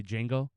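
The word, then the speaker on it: Django: ] on the movie D Jango uh cuz he was like H how are you going to tell him your name is jeno but the Jay is silent but you're a slave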